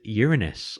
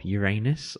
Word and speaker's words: Uranus: on the list is uranus or uranus or however you want to say it i think those are the two pronunciations those are the two